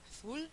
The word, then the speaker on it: azul: palabra favorita que es azul que tendrían que pronunciarla azul sí Y ustedes van a pronunciarla azul Sí entonces Recuerden que la l oscura no